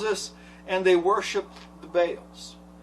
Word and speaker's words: Baal: And what happens is, again, the story tells us, and they worship the Baals. It's interesting is that Baal which is Baal, depends on how you want to pronounce it, But Baal is according to the